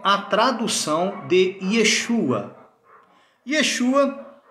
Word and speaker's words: Yeshua: Yeshua é a pronúncia real, verdadeira do nome do Messias em hebraico e aramaico.